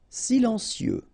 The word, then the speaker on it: silencieux: Silencieux, final X not pronounced, okay? This part here will be pronounced like cieux, okay?